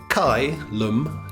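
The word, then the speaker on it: Caelum: asked them it is kylem audio column audio that's spelled c-a-e-l-u-m and pronounced kai lum kylem audio um there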